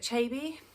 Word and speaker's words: Achebe: I think that's how you say it, Achebe.